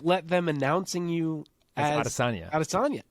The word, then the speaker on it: Adesanya: Whenever he's on Ariel, they at some point will broach the topic of how his name is actually Adesanya.